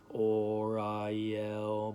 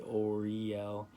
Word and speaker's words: Uriel: to visualize uriel and i was actually pronouncing his name kind of weird i was saying or i yell but now i say oriel and i almost saw